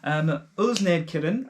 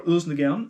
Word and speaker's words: Ølsnedkeren: So, Ølsnedkeren, as it might sound, or Ølsnedkeren, as you actually pronounce it in Danish.